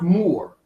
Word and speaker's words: Moor: matter never meaning beloved it's pronounced more that's the pronouncement pronouncement you're going to